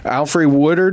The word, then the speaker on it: Alfre Woodard: the other thing that's even you mentioned, like the only thing that I really heard negative was Alfre Woodard.